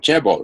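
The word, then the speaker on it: chaebol: Well, Koreans have Chebo, which is the same Chinese characters pronounced in a Korean way, not a Japanese way.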